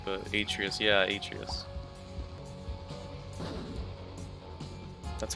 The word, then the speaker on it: Atreus: Yeah, Atreus. That's how you pronounce Atreus.